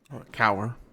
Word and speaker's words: Kaur: Cadet Kaur, did I pronounce that right? Cower. Kaur.